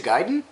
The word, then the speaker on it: Gaiden: Oh, you mean Ninja Gaiden?